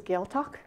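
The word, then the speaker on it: Gàidhealtachd: to pronounce that but how you say it in English is Gail talk so the gale talk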